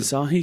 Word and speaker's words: Asahi: I think it's pronounced Asahi, but I'm not certain. Yeah. It's Asahi. Okay. And I mean, so I'd say Asahi. But Asahi sounds not sure. That sounds right. Yeah, I'll go with that.